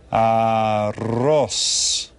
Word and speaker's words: arroz: It's the one where you get to roll your R. Arroz.